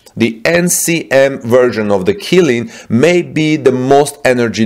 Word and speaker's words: Qilin: what we are saying is that caddo's new killing cell to pack battery by the way it's spelled q q-i-l-i-n this new killing cell to